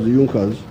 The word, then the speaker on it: Junkers: young cause it's written in junkers but it's pronounced as yunkas in the german kingdom of prussia one of